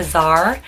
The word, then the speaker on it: Czar: name of their brand azar it starts the sea but you just don't pronounce it and it's just such